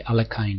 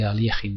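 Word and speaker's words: Alekhine: themes in the Alin defense some people say alakin defense but the correct pronunciation is the Alin defense the main themes is that um the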